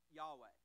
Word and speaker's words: Yahweh: now in the Hebrew name for God we pronounce it Yahweh and that's kind of bright it how spell